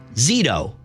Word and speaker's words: Zito: shouldn't have problems uh pronouncing my last name it's zitto Z T I was asking I